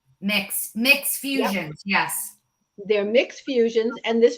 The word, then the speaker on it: Myx: like smart Packaging and it's called mix myx right is that how you say it mix mix Fusion yes they're